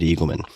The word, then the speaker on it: Eagleman: And my guest today is David Eagleman. You can find him on Twitter at David Eagleman, Eagle Man, just as you would think it's spelled.